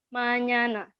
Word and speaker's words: mañana: ya di huruf E kalau kalian sering misalkan mañana itu bacanya nah dibacanya nye. Jadi ada manana, tulisan nana, tapi di ini ada lambang infinity, atasnya itu dibacanya ya guys, nye, mañana.